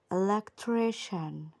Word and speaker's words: electrician: هنا بقى طبعا الكلمه دي بنقول عليها مثلا الكتريسيان الكتريسيان ومش عارف ايه، والنطق ده بيكون غلط جدا. تعالوا نسمع النطق الصحيح عامل ازاي. electrician electrician electrician. شن، السي الاي الاي والان بيتنطقوا شن.